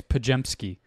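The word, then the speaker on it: Podziemski: There's like a G in there, like a J. You say it like a J. It's Pajemski. Pajemski? Don't ask me how, but that's what it is.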